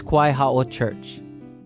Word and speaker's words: Kawaiaha'o: Or this one, Kawaiaha'o Church? No. This is Kawaiaha'o Church. Even if it's at the beginning of a word, it's still a W sound.